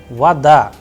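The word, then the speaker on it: вода: and that is why the sound of Oh is coming like ah and I am pronouncing like vada all right and in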